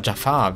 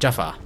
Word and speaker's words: Jafar: Ich sage immer Jafar, wie aus Aladdin. Aber er ist eigentlich Jafar. Also Betonung auf das erste A.